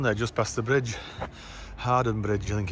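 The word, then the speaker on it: Hawarden: next station down there just past the bridge hardened bridge you think it's got spelled howard but you pronounce it hard and i think it's just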